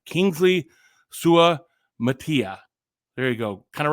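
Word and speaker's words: Suamataia: Kingsley sua Matia sua how how do we pronounce this guy's name let's get this right Kingsley sua Matia there you go kind of reminds me of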